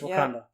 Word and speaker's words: Wakanda: Is that how I pronounced it? Yeah, it's Wakanda.